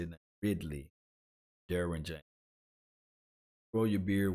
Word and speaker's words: Ridley: So guys, let me know whether or not you rather have Calvin Ridley, Ridley, that's how you say it now, Ridley, Derwin James.